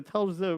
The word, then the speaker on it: Telz: Anyways, he died on November 10th, 1929, and his place, I believe it's called they spell it Telsiai, but it's really Telz.